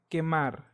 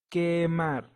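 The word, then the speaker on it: quemar: the letter u but the letter U is always silent in this case if I read the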